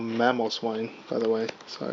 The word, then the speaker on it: Mamoswine: By the way, this one is not called Paloswine, it's called Mamoswine, by the way. So I probably pronounced that wrong.